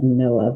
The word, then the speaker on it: NOAA: NOAA is what that's called. People call it NOAA because the abbreviation is spelled like that.